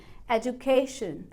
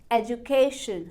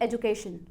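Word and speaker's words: education: तो प्रोनाउंसिएशन हो गई एजुकेशन, एजुकेशन, ना कि एजुकेशन। और एडुकेशन, एडुकेशन काफ़ी लोग प्रोनाउंस करते हैं, वो बस एक मेड अप प्रोनाउंसिएशन है, फैंसी प्रोनाउंसिएशन है। बुक्स के अकॉर्डिंग एडुकेशन कोई रूल नहीं है।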